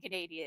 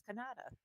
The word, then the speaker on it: Canada: No, you guys keep saying Canadia. It's Canada.